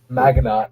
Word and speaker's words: Maginot: me out lion yeah you don't pronounce the T in any Maginot okay sorry what country